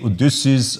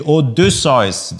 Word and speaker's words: Odysseus: ah lange odossa yes you always hear me um pronouncing this in german yes you could say odysseus or this size or whatsoever it is the odussois this is a german watch and i will continue pronouncing it as it should be so thanks for